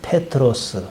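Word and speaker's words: Πέτρος: 그건 아람어식 발음이고 성경에 기록한 헬라식 발음은 페트로스.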